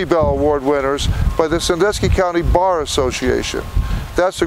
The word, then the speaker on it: Sandusky: Now, for the Hurons and the Wyandots, they pronounce it a little differently. It was a Sandusky, but we pronounce it Sandusky.